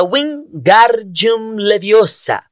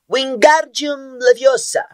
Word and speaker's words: Wingardium Leviosa: Você está dizendo o feitiço errado. Harry ouviu Hermione corrigir aborrecida. É Wingardium Leviosa. O gar é bem pronunciado e longo.